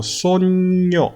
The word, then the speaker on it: sogno: 자, 그리고 sogno, sogno. G 발음 다음에 바로 N이 있을 때는 G를 기역처럼 입모양을 만들어주고 바로 뒤에 N을 붙여야 됩니다.